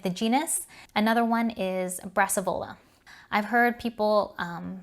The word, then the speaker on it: Brassavola: genus another one is brassavola i've heard people um say that it is pronounced brassavala after antonio brassavalo and that is the italian pronunciation of it so it's kind of